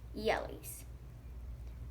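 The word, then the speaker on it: Jelle's: are going to be the jmr to the jelly's marble races you may think I'm mispronouncing that but that's actually what it is it's called it's pronounced jelly's I'm just gonna use a pen for this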